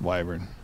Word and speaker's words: wyvern: uh it's uh some people pronounce used to pronounce it wyvern I used to do that but it's pronounced wyvern if you want to irritate some people pronounce